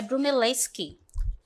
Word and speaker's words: Brunelleschi: Tenho o primeiro aqui, deixa eu só confirmar aqui a pronúncia dele, tá? É Brunelleschi.